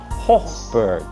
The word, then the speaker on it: Hochberg: And if I was German, you would pronounce it, it's a German name, Hochberg.